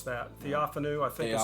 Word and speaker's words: Theophanu: And I'm not sure how to pronounce that. Theophanu, I think, is how I've heard the scholars say it.